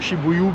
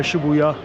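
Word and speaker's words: 渋谷: देखा भी इसे कुछ लोग शिबु भी बोलते हैं शिबुया भी बोलते हैं बट अब मुझे पता चला है कि यहां पर ज्यादा शिबुया कहते हैं तो अब से मैं इस जगह को शिबुया प्रोनाउंस करूंगा सो एनीवेज जो जो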